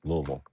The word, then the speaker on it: Louisville: Louisville. Yeah. Now, here's my thing. I'm not from here. I go, guys, it was uh founded and discovered by King Louie, not King LOL.